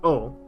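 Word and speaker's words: を: We have the o marker, pronounced o. Remember, the woes are o.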